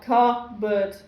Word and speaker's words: cupboard: Yeah, even when you divide it up, cupboard. Yes. And but p goes with b, and you should pronounce b properly. Yeah. I always think of it as like a silent P even, but yeah, no, we're